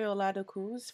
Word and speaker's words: Oladokun: Okay, Joy Oladokun's first. And yes, that's how y'all say her name. She's Nigerian, so I know.